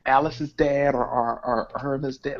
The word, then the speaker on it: Alice: got Elise, Queen of Molecular Gastronomy. That's pronounced Alice, baby.